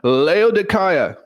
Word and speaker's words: Laodicea: verse 15 salute the Brethren which are in leaya that's how it's pronounced in the Greek I think that's awesome